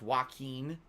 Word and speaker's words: Joaquin: I always forget that it's pronounced Joaquin.